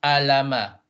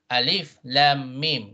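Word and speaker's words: الم: So this is when you pronounce the name of the letter, not how it sounds. It's not alama, right? Alif lam mim, yeah, taha, or alif lam mim sod, right?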